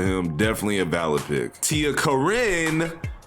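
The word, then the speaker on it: Tia Corine: definitely a valid pick Tia Karin not Karine because I was so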